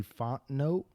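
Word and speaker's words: Fontenot: ] so your boy terry font note is that you say no yeah it's a silent t at the end okay okay so he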